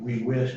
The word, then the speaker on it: whisked: K is one of those that pushes the ED into a T sound. So whisk in the past tense. We whisked, I whisked, you whisked.